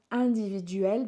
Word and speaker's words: individuel: Individuel, sorry, just make sure we can pronounce that. Individuel, because the IN makes a really open sound.